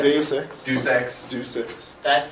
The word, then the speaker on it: Deus Ex: See, he mispronounced it. What is it? Deus Ex?